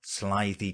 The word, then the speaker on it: slithy: that has often been asked me how to pronounce slithy toes the eye in slithy is long as